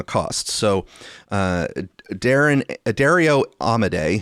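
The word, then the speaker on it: Amodei: So, uh, Darren Dario Amade, who I have previously pronounced as a Modi cuz I'm just reading it and not going by the way everyone else is pronouncing it.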